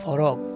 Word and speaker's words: frock: আমরা বলি ফরক। ঠিক আছে, অর্থাৎ এই যে স্পেলিংটা কি হবে? FROCK, ফ্রক হবে স্পেলিংটা।